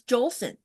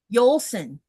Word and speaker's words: Jolson: Yeah, because when you look at it, you just assume it's Jolson. It's not. It's What is it? Yolson. Yolson. It's a yo.